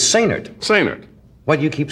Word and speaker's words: Sainert: Sainert. Now, why do you say the accent is on the last syllable? He likes it that way. It's like say nurse, only say nerd.